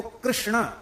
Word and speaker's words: कृष्ण: अब देखो, कृष्ण ये शुद्ध उच्चारण, कृष्ण ये शुद्ध उच्चारण।